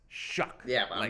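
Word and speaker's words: Shough: And it's pronounced shuck shucking corn.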